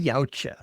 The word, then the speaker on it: Yautja: More specifically, we're talking Yautja Fest. I heard an interview with Dan Trachtenberg recently, and evidently I've been saying it wrong this entire time. What a crime, HP? Yowza, yowza, Yautja.